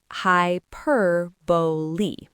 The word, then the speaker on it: hyperbole: The third syllable is a simple bow sound. And the final syllable lee, is where people get tripped up by the spelling. That final e is not silent. It makes a long e sound.